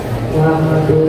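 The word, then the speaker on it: مُحَمَّدٌ: Ya, jadi Muhammad dibaca Muhammadun Tohir. Muhammadun. Dan terus kata Tohir dibaca Tohirun. Tohirun.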